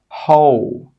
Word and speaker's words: who: But sometimes when the letter H comes after a W, we do pronounce the H sound. Some common examples are whole, who, whose. In all of these words, we're pronouncing the H sound, but we're not pronouncing the W sound.